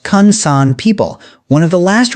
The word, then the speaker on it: Ju/'hoansi: He tracked the daily routines of Botswana's Dobe Ju/'hoansi, pronounced Kung San people, one of the last remaining groups living like our pre-agricultural ancestors.